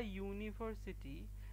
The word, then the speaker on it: university: hour because in case of our the h is silent similarly an uncle but a university because you at the beginning of university sounds